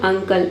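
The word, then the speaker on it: uncle: यहाँ पे क करना है आपको, के नहीं क।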